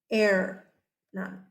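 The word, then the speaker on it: Hernán: What I can tell you is the H is silent. Air, none.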